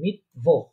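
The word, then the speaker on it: Mittwoch: Wednesday যেটা আমরা বলি বুধবার, সেটাকে তারা বলে মিটভোহ। মিটভোহ, মিটভোহ বলেন। ইয়া, মিটভোহ। হ্যাঁ, হ্যাঁ, হ্যাঁ, মিটভোহ, মিটভোহ, ইয়া, হ উচ্চারণ হবে মিটভোহ।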